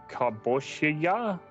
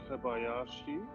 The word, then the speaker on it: Kobayashi: I did see Keontae Kaboshiya. I've completely butchered that. As Alex looks at his screen to try to correct my pronunciation of Japanese. Keniaki Kobayashi?